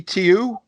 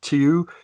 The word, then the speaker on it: Tiu: Is it Tiu, Tui, or just Two? Well, I think it's Tiu because Tui is the airline.